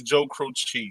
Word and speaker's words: Croce: So, but he said it's Joe Croce.